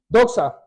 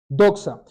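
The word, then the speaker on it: δόξα: el Nuevo Testamento y la palabra original se pronuncia Eso sí me perdona mi hebreo porque mi hebreo no es bueno doxa doxa Y eso quiere decir Gloria Cari Claridad majestad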